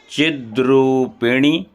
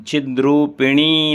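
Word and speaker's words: चिद्रूपिणि: पढ़ लेते हैं ओम चिद्र पणी चिद्र पणी यहां चिद्र पिनी नहीं बोलना है क्योंकि ण छोटी है चिद्र पणी महामाए दिव्य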